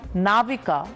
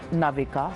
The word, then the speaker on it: Navika: I'm actually Navika, not Navika.